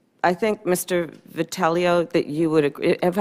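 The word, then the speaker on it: Vitiello: Vitali oh that you would agree ever had pronounced your name correctly patella patella thank you I think you would agree as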